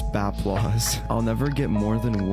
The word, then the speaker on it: Bapplause: shout out zero none applesauce a lot of people actually think my name is pronounced applesauce it's actually baplois i'm just clarifying it's baplois i'll never get more